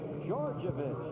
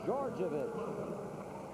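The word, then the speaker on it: Djordjevic: Called on Georgievich, and that's the way it is pronounced. It is spelled D-J-O-R-D-J-E-V-I-C. It's pronounced Georgievich.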